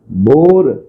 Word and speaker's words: Bohr: लिखिए बोहर periodic table देखो बोहर बोलते हैं बोर लिखा जाता है साइलेंट होता है ठीक है बोर पीरियोडिक टेबल या इसे